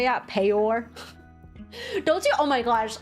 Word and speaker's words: peor: How do you pronounce that? P-E-O-R.